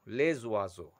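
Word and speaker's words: oiseaux: that is Lay wazo it will take X at the end point to make it plural so pronunciation will less Vaso Les wazo but he is not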